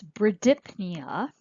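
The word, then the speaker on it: bradypnea: you recall means slow we pronounce this bruh dipped Nia and ver dip Nia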